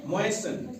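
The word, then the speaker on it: moisten: एम ओ आई एस टी एन मोइसन इसको क्या पढ़ते हैं?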